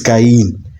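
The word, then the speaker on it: קין: Yeah, the Hebrew word for Kane is Ken. Sounds like the Hebrew word for acquired or gotten.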